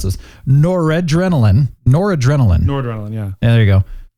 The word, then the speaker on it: Noradrenaline: 2, promotes, how do you pronounce this? Noradrenaline, yeah.